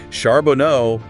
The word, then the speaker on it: Charbonneau: work of Bradley sharbono it's sharbono emphasis on that first syllable oh his stuff is